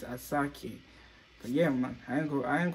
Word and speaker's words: Asake: shot you got money I don't know why you guys pronounce it as ashaki but around this side in my language it is asaki yeah I go I